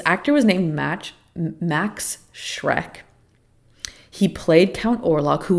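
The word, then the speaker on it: Schreck: just for some clarification Shrek is spelled s c h like sh r e c k but like I mean I'm pretty sure you just say Shrek like like Shrek which is pretty sick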